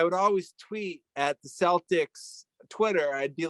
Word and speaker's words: Celtics: me and they said it's pronounced celtics with an s um but i'm calling